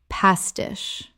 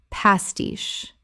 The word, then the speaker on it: pastiche: Word 137 pastiche Common mispronunciation pastish Correct pronunciation pastiche Two syllables with the stress on the second. The che makes a sh sound.